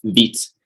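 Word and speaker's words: Vite: optimal so beat is french word for fast or rapid or quick okay so it's pronounced beats so the first time i heard the word vibe was on my mind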